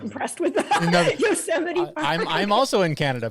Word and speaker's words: Yosemite: Is that how I pronounce it? I'm Canadian. Yosemite. Who's not impressed with that? No, Yosemite Park.